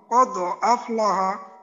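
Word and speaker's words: قد أفلح: আচ্ছা দালের উচ্চারণটা কোনোভাবেই যেন ওকারের মতো না হয়, যেমন আমাদের এই একামতের মাঝে বলে না কদ ক, কদ কদ, তো এখানে যেন কদ কদ ক ধরনের কদ হয়ে না।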